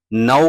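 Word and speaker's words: know: आप लोग जो है नाउ का लफ्ज इस्तेमाल करते हैं के एन ओ डब्ल्यू ओ तो यहां पे जो है के साइलेंट हो जाता है और एन से जो है प्रोनाउन स्टार्ट होता है।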